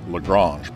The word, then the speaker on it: Lagrange: points and they are named after a french italian astronomer so the intent is obviously that they are pronounced lagrange points but that may not